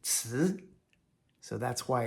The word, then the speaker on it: 词: Si rhymes with ci.